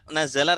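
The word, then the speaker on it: نَزَلَ: Kalau ditasydid berarti bacanya nuzila. Kalau tidak ditasydid berarti nazala.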